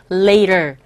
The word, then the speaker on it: later: 털 하지 마시고 털 뽑아버리세요. 털이 아니라 later.